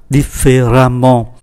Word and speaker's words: différemment: Différent biến thành différemment, và chúng ta để ý cách phát âm là amant, différemment.